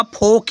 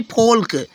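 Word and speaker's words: folk: अब जैसे नेक्स्ट है FOL के, ये होगा फोक, ये नहीं फोल्क, फोल्क गलत होगा फ्रेंड्स, फोक, क्या होगा, फोक, यल साइलेंट हो गया, यल का साउंड ही नहीं आया तो उसको पढ़ा ही नहीं जाएगा, फोक हो जाएगा, ठीक है।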